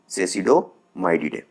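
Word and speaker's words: Cecidomyiidae: ठीक है, sorry for the pronunciation, इसको हम लोग क्या पढ़ेंगे, सेसिडोमाइडिडे।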